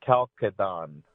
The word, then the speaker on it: Chalcedon: Well, if you wanted to get real technical, there's a K sound at the beginning and in the middle, so it would be Chalcedon. Okay. But nobody ever, it's just not pleasing in the English tongue to say it that way.